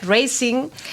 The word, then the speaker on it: Racing: Gijón, Racing de Santander, que en realidad se pronunciaría Racing.